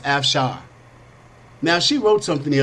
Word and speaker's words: Afshar: h8r Sarah F Shawn okay pronounced F Shawn now she wrote something